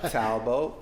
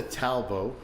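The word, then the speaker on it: Talbot: Talbo, I have heard of that. Lago tear drops. S A L B O T. Yes, but the T is silent.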